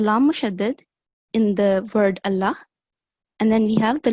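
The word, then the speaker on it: الله: So the lam mushaddad in the word Allah should only be pronounced with a thick and broad sound if it is preceded by the vowel mark of fatha or dhamma.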